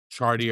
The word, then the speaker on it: Chartier: Yeah, I just say Chartier. Chartier.